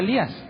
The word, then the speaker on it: Elías: escuchen, está llamando a Elías. ¿Pero de dónde sale la idea de que le está hablando a Elías? Bueno, porque en el original le dice Eloí, Eloí, y Elías se pronuncia Elí.